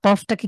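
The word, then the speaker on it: ق: কফটাকে কিভাবে উচ্চারণ করেছেন জাহিদ ভাই, একটু সবাইকে বলেন তো। কফটাও একদম কণ্ঠনালীর ভিতর থেকে করেছে আর কি। হ্যাঁ, একটু ধাক্কা দিয়ে বা কণ্ঠের ধাক্কা।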